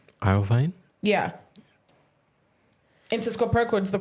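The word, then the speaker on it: Iovine: iine um I o v i n e iine yeah into SC per the co-founder oh okay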